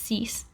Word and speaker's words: six: to ten now so even though six looks like the english spelling it's actually pronounced cease and you'll see the